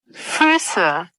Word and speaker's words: Füße: قلد بقى النطق، هنا البايشبيلة دي تفضل تقلد فيها. Brüder. Fuß, Füße.